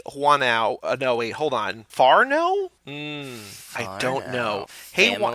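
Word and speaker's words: whānau: Farno? I don't know. Hey, it's the same word as last time, Whanau. She says, in parentheses, phonetically, Farno.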